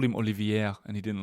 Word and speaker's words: Olivier: got to get well once it becomes Olivier the AR silent Olivier Olivier but I called him Olivier and he didn't like